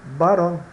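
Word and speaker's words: varón: vocês conhecer essas palavras varon né se pronuncia Baron significa macho Baron né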